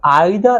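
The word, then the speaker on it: either: मैंने लिखा हुआ है कि आइदर और, नाइदर नॉर. समटाइम्स इसका प्रोनाउंसिएशन कहीं कहीं निदर भी होता है. ओके, और इधर भी बोला जाता है.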